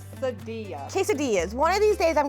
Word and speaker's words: quesadillas: Did I say quesadillas? You did say quesadillas. Quesadil quesades. Quesadillas.